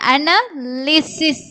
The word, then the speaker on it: analysis: அடுத்தது analysis, analysis. analysis. இங்க வைக்கு வந்து என்ன சவுண்ட்? ஐயோட உச்சரிப்பு தான் கொடுக்குறோம். ஈ சவுண்ட் வருது. அனாலிசிஸ்.